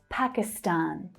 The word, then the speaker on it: Pakistan: So again, you'll always hear the stressed syllable pronounced slightly differently depending on which native speaker you're listening to. But you'll hear a strong first syllable and the main third syllable stressed.